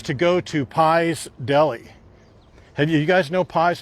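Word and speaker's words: Pais: But Pies Deli, it's spelled P-A-I-S. P-A-I-S, Pies Deli.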